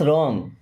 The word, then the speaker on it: रॉन्ग: सकता है okay words रॉन्ग words means क्या है रॉन्ग मींस होता है गलत देखिए आर के पहले कभी भी अगर डब्लू आ जाए तो डब्लू होगा साइलेंट व्हाट्स रॉन्ग मींस क्या